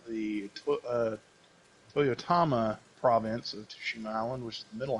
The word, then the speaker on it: Tsushima: we are in tsushima sushima what they've been pronouncing in the game so tsushima yeah it helps if you like kind of